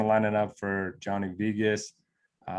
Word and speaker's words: Vegas: Can I say something about how you pronounce Vegas? I've heard of Vegas before. I don't know. It's Vegas.